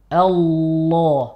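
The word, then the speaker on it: الله: ditahan Al Al Allah ini posisinya di sini terus nih Allah bukan a kalau naik otomatis ada waunya Oh berarti menahan si bibir bagian tidak ikut naik tidak ikut naik karena kalau naik potensi ada wawunya baik ini tips untuk membetulkan cara eh membetulkan bacaan lafzul jalalah he biar tidak tercampur wawu dengan menahan bibir bawah untuk tidak bergerak ke atas dan menebalkan huruf lam lam latihannya seperti tadi ya Al Allah nanti latihan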